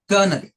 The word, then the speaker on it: colonel: पहला शब्द है कर्नल। कर्नल मैं 3-4 बार प्रोनाउंस करूंगा, आपको जो सुनाई देता है उस तरह से आप लोग स्पेल करेंगे।